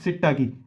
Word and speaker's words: psittaci: और ये दूसरा क्या है, क्लेमाइडिया सिट्टाकी, PSITTACI। क्या स्पेलिंग है, PSITTACI, सिट्टाकी।